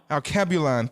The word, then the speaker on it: Alkebulan: Is it Alkebulan? Did I say it right? Say it again. Alkebulan.